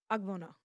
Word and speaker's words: ogbono: Egusi or ogbono? Did I say that right? Did I say that right? She said it right, y'all.